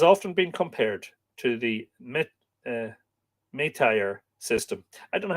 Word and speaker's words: métayer: M-E accent T-A-Y-E-R. The Métayer. Métayer. You don't finish if there's a consonant on the end of a French word, you don't pronounce it, don't you not?